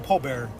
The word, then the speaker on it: pallbearer: So Chris has to carpool drive us back over, and he's a pallbearer, mind you.